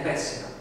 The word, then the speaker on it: Pesach: Di lì a 7 giorni si sarebbe festeggiata la Pesach, pronunciata bene, pessima, la Pasqua ebraica, in